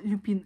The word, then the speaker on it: Люпин: Я читала Люпин, Люпин, Люпин, Люпин, Люпин. Переделала себя на Люпин. А оказывается, он все-таки Люпин. Не знаю, возможно, это просто ударение.